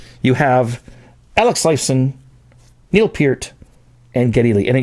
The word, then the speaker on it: Peart: You have Alex Lifeson, Neil Peart, and Geddy Lee. And I guess it's pronounced Peart, by the way, and that's how he pronounces it. So a lot of people say Pert, but that's a shampoo, I think.